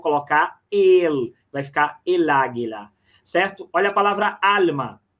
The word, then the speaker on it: águila: Só dizer para quem está longe a palavra águila. Então, a sílaba mais forte, esse lá, A, que está aqui.